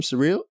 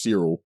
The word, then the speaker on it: Cyril: today I don't know how do you pronounce his name surreal oh no it's Cyril Cyril zero zero zero zero